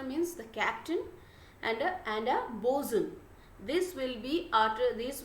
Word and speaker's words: boatswain: the captain and a bosun this will be after this will be pronounced as bosun not boatswain okay it's it will be uttered as bosun and boson is one